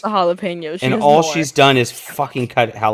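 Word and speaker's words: jalapeño: __ ] shoot myself 35 minutes it's a jalapeno and all she's done is cut jalapenos holy crap jalapenos pinots pinots it sounds like you're saying peanuts i can't do that that's terrible jalapenos yeah that's what it sounds like oh god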